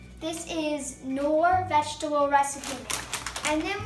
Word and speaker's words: Knorr: Knorr. It rhymes with door. This is Knorr vegetable recipe mix.